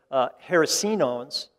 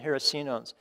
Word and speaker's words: hericenones: And I'm going to use Dr. Jim Duke's pronunciation here of these compounds because I always like his second syllable emphasis. But hericenones and erinacines as well. Erinacines and hericenones is what we're interested